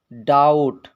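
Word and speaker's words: doubt: पहले बी आया है अगर टी से पहले बी आता है तो बी साइलेंट रहेगा यह भी आपको ध्यान देना है जैसे डाउट डाउट डाउट माने संदेह यह लिखा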